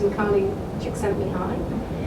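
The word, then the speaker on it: Csikszentmihalyi: written you'll never million years be able to pronounce it but trust me his name is improbably excelled in high and what he identified and talked about was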